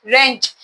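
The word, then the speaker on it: wrench: P cheap W आर ई एन सी एच रेंच यहां W silent है डब्ल्यू को नहीं पढ़ते हैं क्यों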